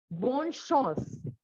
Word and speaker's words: bonne chance: Next one which we have is bonne chance. Bonne chance. Chance, not chance. Chance is an English word. This is chance in French.